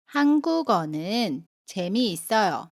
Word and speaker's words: 한국어는 재미있어요: How would you pronounce it? This is the pronunciation of the final consonant ‘ㄴ.’ '창문을 닫아주세요.'(=Please close the window.)